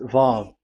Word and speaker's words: Vav: So it's V as in Vogue. So it's really V. How to read Vogue? So the word, the shape Vav is really pronounced V, like Vogue. That is it, pronunciation. So here in this side, it's pronunciation. This is pronunciation. So according to the old Hebrew word today, those who, the owner of the words, I mean, so it's a V. So don't change it into W.